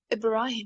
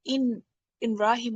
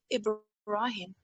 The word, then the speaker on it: Ibrahim: It's Ibrahim. It's not in Rahim or something you pronounced. It should be Ibrahim, okay?